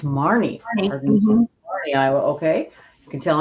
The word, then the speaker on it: Marne: Karen married Dwayne McFaden during the summer of 1964 and moved into an old farmhouse near Maine, Iowa. Is that how you pronounce that? Mary Oh, it's Marne, Iowa.